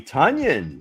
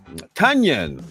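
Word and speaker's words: Tonyan: Coach, do you want to work on your pronunciation of that name? Tanyion. There you go. I'm on it. I'm on it. I'm on it. Onion with a T in front.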